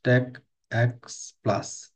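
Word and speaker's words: TACACS+: Pronounced হচ্ছে radius, আর টেকএক্স take x plus এইভাবে উচ্চারণ করা হয়।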